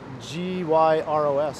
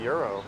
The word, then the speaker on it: gyros: And what's the proper pronunciation of Gyros? I say euro. Yeah, but that's some people say gyro. Yeah. Euros, I think. I know Kramer on Seinfeld says gyros. Yeah, I think he's wrong.